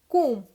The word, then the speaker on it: comb: This is नॉट कॉम्ब, this is कूम. Like TOMB टूम, COMB कूम.